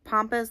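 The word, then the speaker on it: pampas: candles and it's called I think I'm pronouncing pompas like pompus grass p a m p a s I don't know tell me if I'm pronouncing that wrong but it is like it's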